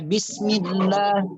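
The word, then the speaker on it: بسم الله: tebal apa tipis bacanya Ya bismillah bismillah tidak boleh tebalkan harfil jalalahnya itu tafkhim ya Bismillahirrohmanirrohim itu bacanya tipis Nah kalau kalau kalau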